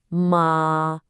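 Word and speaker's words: 妈: If you say it with a high, flat, first tone, ma, it means mother.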